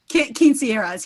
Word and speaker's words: quinceañera: Janie, Quinceañeras? Quinceañeras, yes.